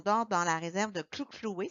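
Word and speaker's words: Hluhluwe: dans la réserve de Kluklui. Ça se prononce comme avec des claques là, de la langue, qui est une particularité de la langue zoulou.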